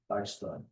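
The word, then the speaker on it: Dijkstra: My professor pronounced it dystra dystra.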